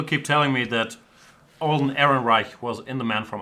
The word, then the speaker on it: Ehrenreich: Han Solo actor Alden how do you pronounce it? Alden Ehrenreich.